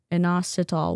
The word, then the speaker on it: inositol: If you want to know the spelling since I butchered every single pronunciation of everything this stream which you know keeps me humble. Inosol. Inositol.